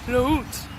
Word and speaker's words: låt: In Swedish, the word for song is låt. And I know that looks like an A, but that special little accent on top changes the pronunciation.